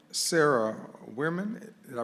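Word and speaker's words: Werman: you Mr Clark thank you all right Sarah wman did I pronounce that correctly okay floor is yours just please spill your last name for the record I'm Sarah weirman w e r m an first name Sarah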